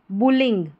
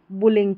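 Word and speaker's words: bullying: तो उसको बोलते हैं बुलिंग करना यानी कि परेशान करना किसी को। बुलिंग इसको बलिंग करके नहीं पढ़ेंगे। बुलिंग हो गया।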